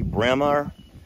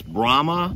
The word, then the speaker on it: Brahma: please announce her breed which people say bremer but it's brahma yeah and now the